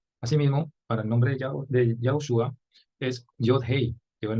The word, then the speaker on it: Yahushua: Asimismo, para el nombre de Yahushua es Yod-Hei, que es el nombre del Eterno. Se pronuncia no Yehoshua, sino Yahushua, sombra profética del nombre que llevaría a nuestro Mashiach.